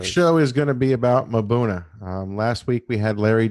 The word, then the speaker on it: mbuna: tonight we're gonna discuss mbuna or as aptly named by the native people um buna with a with a you it's a silent I've met so many people who don't necessarily know how it's pronounced and they feel awkward saying it so just imagine a you before it and it'll make your life easier are the most common and